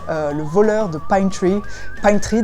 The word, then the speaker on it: Pine Tree: Pine Tree d'ailleurs, il faut le prononcer à la façon doublage de série américaine par des Français. Donc Le voleur de Pine Tree.